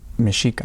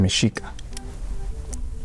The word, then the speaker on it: Mexica: look at it but since um in the Spanish language the Spaniards couldn't pronounce um the X inside the meico term so they they had put they had named it meano but it's actually it's actually mishika and what does what